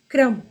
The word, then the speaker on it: क्रम: इसका उच्चारण होगा क्रम, इसका कर्म और इसका क्रम। क हलंत जुड़ र हलंत जुड़ अ जुड़ म हलंत जुड़ आ, अ क्रम। उसी प्रकार से आ जुड़